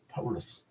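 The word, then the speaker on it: Παῦλος: 이거 라틴어가 파울로스 그러니까 우리 한글 성경에서 그 바울이라고 한 번역 가는 건 정확한 발음이 아니에요. 사실은 파울로 파울로 그게 더 정확한 발음이에요.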